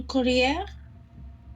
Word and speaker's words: collier: Un collier. Collier. Collier. Collier. Hein, la prononciation, c'est comme un E accent aigu.